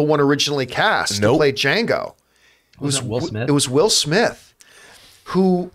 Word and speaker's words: Django: nero at the bar the original django and says the d is silent you know he just